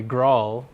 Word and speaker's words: Grail: experiments with grail or as I've been convinced to call it recently Grall is the officially supported pronunciation of the term although